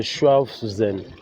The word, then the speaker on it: Schwabhausen: Le nom, c'est Schwabhaus. C'est la façon la plus simple que je peux la prononcer. En allemand, c'est Schwabhausen.